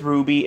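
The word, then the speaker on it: RWBY: Somewhat, except this Ruby is spelled R-W-B-Y.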